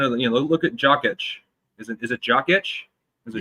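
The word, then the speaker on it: Jokić: Like you look kind of, you know, look at Jokic.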